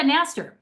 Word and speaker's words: Knaster: Nast with a K silent. Okay. Um that's why I asked you to pronounce it. So Nastaster is with me today and she's in New York City.